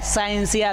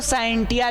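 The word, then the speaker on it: scientia: आया है साइंसिया से कुछ लोग इसको साइंटिया भी कहते हैं तो भैया अपना अपना उच्चारण जिनको जो अच्छा लगे हमको अच्छा लगा साइंसिया हमने कह दिया आपका मन किया तो साइंटिया कहिए कोई दिक्कत नहीं तो विज्ञान का अंग्रेजी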